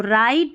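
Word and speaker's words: write: डब्लू आर को है ना हम र पढ़ेंगे, क्यों पढ़ेंगे, क्योंकि डब्लू है ना वो साइलेंट हो गया, तो राइट रॉन्ग।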